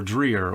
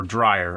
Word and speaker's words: Dreyer: produced and directed by Karl Theodor Dreyer or Dreyer I've heard both ways pronounced he's one of the